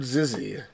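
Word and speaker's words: XYZZY: They pronounce it Zizzy.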